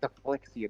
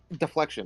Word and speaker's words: deflection: Deflection. That's That's how you say it. Right. But I'm saying it's Why are you saying deflexian? Just say deflection.